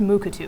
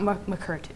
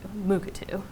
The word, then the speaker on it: Mukurtu: It's pronounced Mukatu, everyone, not Mukurtu, Mukatu.